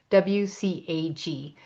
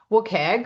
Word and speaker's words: WCAG: The best known W3C accessibility standard is the Web Content Accessibility Guidelines, WCAG, which I pronounce WCAG, but I'll say WCAG today.